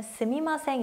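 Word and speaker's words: すみません: 발음할 수 있죠 실생활에서 더 많이 쓰는 표는 스미마셍 보다는 쓰인 환생 이라는 발음이 고요 정중하게 쓰실 때는 그 때는 스미마셍 이라고 쓰시면 됩니다 그런데 이 스밈 화 생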